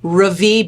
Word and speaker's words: Ravie: was like Rie ravie so it is ravie Beauty apologies Ally for mispronouncing it when I first got